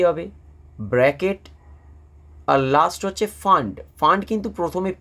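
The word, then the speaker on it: Pfund: আর last হচ্ছে ফান্ড। ফান্ড কিন্তু প্রথমে পি থাকে। বাট পি এর উচ্চারণটা কিন্তু উচ্চ। আমরা শুধুমাত্র যেটা বলব সেটা হচ্ছে ফান্ড।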